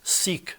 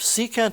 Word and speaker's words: secant: by saying cos Theta secant of theta is never pronounced seek Theta it's pronounced secant of theta there's no verbal abbreviation